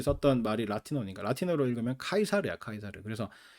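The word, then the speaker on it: Caesar: 독일어권에서는 일러라 읽는 이름인데 영어권에서는 러라 그냥 읽어요 시저도 마찬가지 여러분이 잘 아는 그 시저도 로마시대 그죠 시저도 그 영어식 발음이 시저 그 라틴어로 로 그 원어 그대로 로마 사람들이 썼던 말이 라틴어가 라틴어로 읽으면 카이사르 카이사르 그래서 아 여러분이 역사책에서 세계사 뭐 이런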